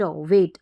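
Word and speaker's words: wait: तो ये है व डब्लू ए व ए ट वेट अब चाहे तो ये जो ए आई रहेगा ना इसको भी ए पढ़ते हैं ए पढ़ते हैं फिर यहां पर डब्लू के लिए व आ गया और इसको ए पढ़ा तो ये ए ऊपर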